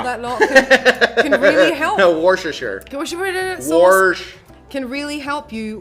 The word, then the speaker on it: Worcestershire: It looks like Worcestershire. Yeah, but it's Worcestershire. It's just I don't know. It's the letters don't mean the word.